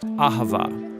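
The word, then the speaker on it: אהבה: languages as it is in ancient Hebrew it's pronounced aava it most basically refers to the kind of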